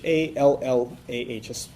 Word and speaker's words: Allah: So we call Him Allah. His name is Allah. That would be spelled in English A-L-L-A-H, an emphasis on the L, okay, Allah.